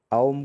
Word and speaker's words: ओम: तो अब जो है सबसे पहले हम ओम का उच्चारण करेंगे। ओम शायद आपको पता होगा कि तीन अलग अलग अक्षरों से मिलके बना है, दो स्वर हैं एक व्यंजन है, अ उ और म।